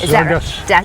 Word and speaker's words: Zarges: Yes, Zarges. Zarges. With a hard G.